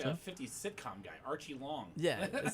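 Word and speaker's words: Aoriqileng: opponent's name is pronounced Archie Long.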